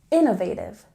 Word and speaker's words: innovative: syllable methods methods and in Innovative we stress the first syllable Innovative Innovative the next linking word